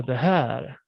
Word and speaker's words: det här: As I said here, we take away the T. We omit the T. So we say det här. Det här. Right. So we drag this one here. The R oftentimes is very, very, light.